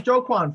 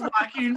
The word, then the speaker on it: Joaquin: actor and we started that was jo kwon phoenix no man it's joaquin that's wacky in phoenix that's john wick